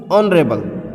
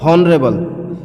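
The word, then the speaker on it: honorable: ऐसी ऑनरेबल, ऑनरेबल sound है, उच्चारण इसका, प्रोनाउंसिएशन इसकी ऑनरेबल, नॉट हॉनरेबल।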